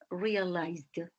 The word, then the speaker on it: realized: And realize the final consonant sound is Z, and you pronounce realized.